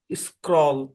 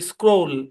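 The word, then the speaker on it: scroll: একটা কথা বলি শোনেন এখানে ও এর সাউন্ড মূলত লং ও দিবে স্ক্রল এরকম আর কি হ্যাঁ এই শব্দের উচ্চারণ হচ্ছে স্ক্রোল ও এখানে লং সাউন্ড দিবে কি সাউন্ড দিবে ও লং সাউন্ড দেবে নিয়ম কি কোন নিয়ম নাই সব জায়গায় নিয়ম হয় না ভাই এই শব্দের হচ্ছে স্ক্রোল তাহলে কেমন হবে আরে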